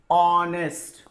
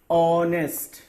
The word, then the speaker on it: honest: Honest. Honest. Honest. I'm not reading honest. It is not honest. It is honest. Okay? Honest. So H is silent.